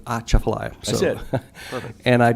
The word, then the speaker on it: Atchafalaya: I've only been in the state about 7 months, so I just learned that you pronounce Atchafalaya by pretending like you're sneezing, so Atchafalaya.